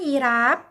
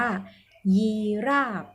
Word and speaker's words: ยีราฟ: for รัก นะ คะ แต่ เวลา มัน เป็น คำ ที่ มา จาก ภาษา อังกฤษ มั้ง เวลา เวลา เข้า ออก เสียง เขา เรียก อุ้ย นั่น อีราฟ แต่ จริง ๆ เพราะ เวลา มา อ่าน แบบ นี้ มัน จะ อ่าน ว่า ยี ราบ โอเค ไหม กับ อีก